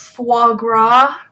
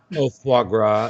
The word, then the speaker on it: foie gras: I'm not sure what you're even trying to pronounce foie gras foie gras foie gras foie gras don't let our youth